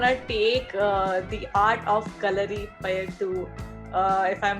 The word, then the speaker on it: Kalaripayattu: Where do you want to take the art of Kalaripayattu to, if I'm pronouncing it right or not? Thank you. You've done a great job with it. Yes, Kalaripayattu or Kalaripayattu.